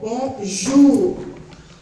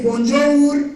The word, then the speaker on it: bonjour: La OU suena como U, comme le mot bonjour. Bonjour. No van a decir bonjour, no, bonjour.